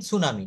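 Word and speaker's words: tsunami: দেখেন টি সুনামি ডিকশনারিতে দেখবেন, কিন্তু এই টিটা আমরা কখনো উচ্চারণ করি না।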